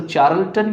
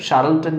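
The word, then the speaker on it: Charlton: इसको चार्लटन या शार्लटन जो आपको उचित लगे उस हिसाब से आप अपना प्रोनाउंस कर लेना।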